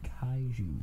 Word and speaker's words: Kaiju: We're talking about, I can't even pronounce this properly, we're talking about kaiju.